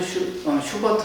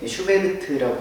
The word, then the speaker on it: 슈베르트: 프란츠 슈버트 하면은 독일어식의 발음인데 슈베르트라고 하면 우리가 조금 더 익숙하죠.